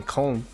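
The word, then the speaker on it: Köln: they said in Germany apparently in col is how you say it col cologne um you're closed cologne yeah uh in English cologne and German Co I tried tried he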